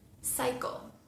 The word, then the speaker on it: cycle: Cycle, cycle.